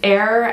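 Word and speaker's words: Eir: anything is that the name of the brand err e IR which is how you pronounce it it means it's a mythical goddess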